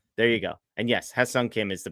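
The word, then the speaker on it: Hyeseong Kim: of them so there you go and yes Hung Kim is the pronunciation as as Devan is saying in the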